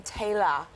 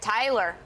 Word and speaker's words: Taylor: I especially love it because they all pronounce my name Taylor here. Oh, yes, OK. Instead of... I'm used to hearing it Tyler.